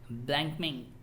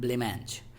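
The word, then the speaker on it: blancmange: अ cap like ए ब्लैंकमिंग। एक minute इसका pronunciation मैं बताता हूँ। तो इसको बोलते हैं ब्लेमेंज।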